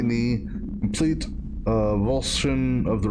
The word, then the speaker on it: avulsion: That means the action of pulling or tearing, and it's properly pronounced avulsion.